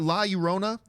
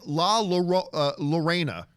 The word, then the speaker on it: La Llorona: We got La Llorona, which that trailer was amazing. I kept calling it Lorena. Right. And then everybody's like, John, it's La Llorona.